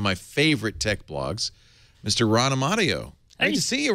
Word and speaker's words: Amadeo: Technica, Ron Amadeo writing, although I mispronounced it all along. I kept calling you Ron Trapani. Oh, so, Ron Amadeo. I got it now.